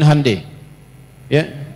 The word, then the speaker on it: Hyundai: Jadi Jepang misalnya bikin Honda, dia bikin Hai ya. Ya, Hyundai saya tahu bahasanya dibacanya Hai ya.